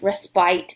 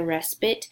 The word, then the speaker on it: respite: read this word like respite but that's not the proper pronunciation it is a respite and when you think respite you should think rest to help you remember